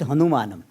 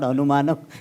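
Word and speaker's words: अनुमान: Some people, those who are not familiar with Sanskrit language, they get confused with Hanumanam. It is not Anumanam, it is Anumanam. Some people, and ha, they don't pronounce properly.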